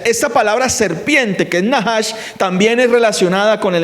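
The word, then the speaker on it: נחש: Para pronunciar encantamiento también se pronuncia nahash.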